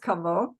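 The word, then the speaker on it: кого: in this case it's spelled Cavo or it's pronounced kavo uh but a lot of times it'll uh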